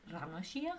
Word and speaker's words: La Noscea: I looked at the Romaji and it's pronounced Ranocia, which is weird.